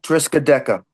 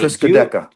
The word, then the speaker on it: Triskaideka: Is it Triscat? Is it, how do you say the word? Triscardi? Is it the last song? Triskaideka. Right. Triskaideka.